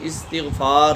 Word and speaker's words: استغفار: استغفار۔ حمزے کے نیچے زیر، تا کے نیچے بھی زیر، استغفار۔ بعض لوگ اس کو استغفار پڑھتے ہیں، وہ پڑھنا غلط ہے، ٹھیک ہے؟